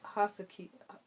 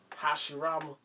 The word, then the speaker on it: Hashira: If only the sun was a Hasuki. Wait, how do you say it? Hashirama.